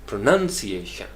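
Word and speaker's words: pronunciation: Primary क्या है, none के ऊपर, प्रोनंसिएशन, प्रोनंसिएशन।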